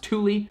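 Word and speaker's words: Thule: show you guys this is from the company Tuli originally I called them THU it's spelled out tle e but it's pronounced Tuli so this guy right here is the new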